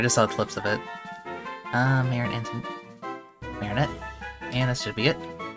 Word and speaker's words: Marinette: Yeah, Marinette. Okay, so I wanna make sure I spell it right.